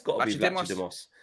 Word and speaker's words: Vlachodimos: Yeah, it's got to be Vlachodimos. Vlachodimos.